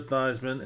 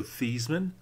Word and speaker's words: Theismann: His name is actually Joe Theismann. But in college, his last year in college, he was trying to win the Heisman. So he starts calling himself Jeff Theismann to rhyme with the Heisman.